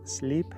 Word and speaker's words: sleep: sleep web dormiste bien al pronunciar la palabra sleep tiene que sonar una y larga una niña española larga sleep sleep did you